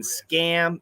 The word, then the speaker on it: scam: and scam huge difference scum is a short you don't stretch it scum and scam is a short a stretch that sound previous from Russia how